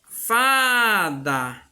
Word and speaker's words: fada: Então, ó, já, fada, tá vendo? Fada. Então, ó, o Fá eu falo com mais intensidade.